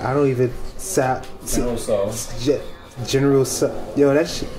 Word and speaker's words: Tso: be having Oriental, General Sal Chow. I don't even Sal. General So, yo, that shit, it's spelled TSO. Yeah, I'd be like, there's some words that the T is silent, or like we say knife, the K is silent.